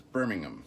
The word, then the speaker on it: Birmingham: But it's Birmingham. You don't say the H. Birmingham. There you go. So I'm heading to destination Birmingham in the UK.